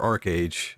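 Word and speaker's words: ArcheAge: a hammer wielding Arch Arch age is that is it Arch age or Arc age I've never played this now I want to know how to pronounce okay it's it looks like it's archage oh yeah there you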